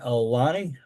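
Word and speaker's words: Aulani: We'll type in Alani. A U L A NI is how you spell it.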